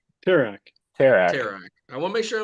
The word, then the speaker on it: Terak: So we're pronouncing this Terak, right? Terak.